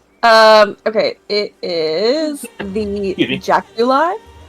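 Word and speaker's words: jaculi: is it called um okay it is the jauli how do you spell it j a c u l i okay Jack you li I thought there was an e at the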